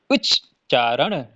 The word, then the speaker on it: उच्चारण: तो इसका जो छोटा है ना, वो आधा पढ़ा जा रहा है। उच्च, उच्च, उच्च, उच्चारण, उच्चारण।